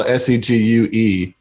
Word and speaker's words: segue: sweaties would be like, that's that's not correct. It's actually, like they would spell S-E-G-U-E and then put way after way it. at the end. Zach, And what do you call the machine mall cops ride on? A a segue. segue. It's the same thing.